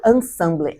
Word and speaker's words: Ensemble: Como que é a pronúncia do livro? Ensemble, em francês, é juntas.